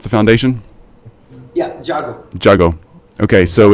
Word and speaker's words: Jago: All right, so it's Jago. Is that how you pronounce the foundation? Yeah, Jago.